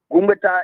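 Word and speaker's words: Gungbeta: Gumbeta is spelled G-U-N-G-B-E-T-A.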